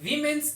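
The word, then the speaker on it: women: He made सम remarks to disparage वीमेन्स achievements in the past. WOMAN। MAN जब singular हो वुमन, जब plural हो तो इसकी प्रोनाउंसिएशन होती है विमेन।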